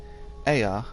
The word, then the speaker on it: Aya: When the vibration of vocal folds, still required to convey our thoughts and intention, Aya, I believe, was the pronunciation used when referring to our people.